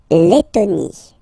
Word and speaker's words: Lettonie: So remember when you get this E and then a double letter like that, T, T, okay, then you will have to open your E and it will become E, Le, Lettonie, La, Lettonie, La, Lituanie.